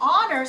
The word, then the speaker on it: honor: did that okay now honor sounds like it starts with an o but it's a silent h and i put for